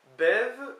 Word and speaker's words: bev: Bev, mais on prononce B, pardon.